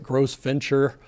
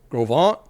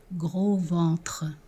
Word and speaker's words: Gros Ventre: And I think I pronounced it Gross Venture. And many of you reached out and said the pronunciation is Grovant. But actually, given that it's a French word, here's the proper pronunciation. Gros ventre.